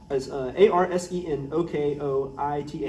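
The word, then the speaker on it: ἀρσενοκοῖται: I guess that's A-R-S-E-N-O-K-O-I-T-A-I. Yeah, yeah. And sometimes the Greek pronunciations are a little different.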